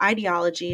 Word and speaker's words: ideology: word um idea or brings to mind literally the word idea um it has a